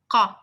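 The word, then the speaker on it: ق: Okay, when you pronounce it, you don't make your mouth rounded. So it's not qa, it's qa, qa.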